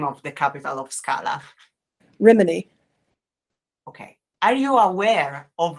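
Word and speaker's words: Rhíminee: okay the capital of Scala how do you pronounce the name of the capital of Scala reminy okay are you aware of reminy city in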